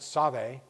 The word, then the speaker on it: Save: a nearby river interestingly in english it looks like the save river which is the cool river to baptize in they actually pronounce it save but it's where people